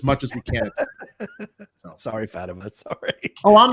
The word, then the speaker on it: Fatima: Her name is pronounced Fatima, not Fatima.